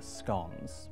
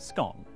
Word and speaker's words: scone: move on to the scones. Pronounced scone, not scone.